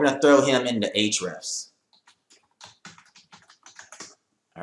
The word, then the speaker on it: Ahrefs: I pronounce it Ahrefs, okay?